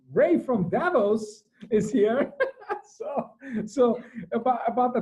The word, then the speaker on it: Davos: Davos. So. We're getting there. Vala, can you do better? Think Boston. Think Boston. Davos? Davos, yeah. It's Davos.